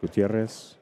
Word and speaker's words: Gutierrez: Julia Kelly um Lisa Gutierrez Gutierrez I gotta pronounce it with the Spanish in there Lucy Olvera thank you